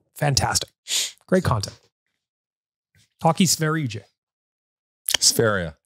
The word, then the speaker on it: Sverige: Sferia. Sveria. It doesn't, you don't pronounce it the way it looks like it should be said.